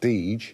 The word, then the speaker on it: Dager: Dager's, or now it's pronounced Deej, their two sons got on very well, so they actually started up on their own.